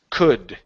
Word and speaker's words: could: okay very good uh this word here the L is silent so we do not say C okay we take out the L okay it's could could could all right